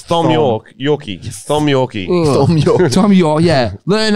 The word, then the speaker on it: Thom: Tom with It's T-H-O-M. Thom. It's either Thom or Fuck off. spell it properly. You're not. True. Thom. Oh. It's Thom Yorkie. Thom Yorkie. Thom York.